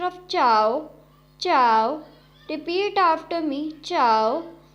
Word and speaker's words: zhao: The next Pinyin is ZHAO, has a pronunciation of chow, chow.